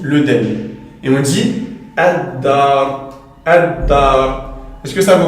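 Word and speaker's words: الدار: On dira ad-dar. Tandis qu'ici on dira al-masjid. Donc là, on entend clairement le lem. Tandis qu'ici, ad-dar, comme vous voyez, on ne prononce pas le lem.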